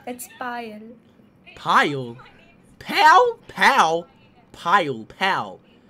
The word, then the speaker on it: Payal: my name is p can you pronounce it like pile P oh pile like a pile like oh I I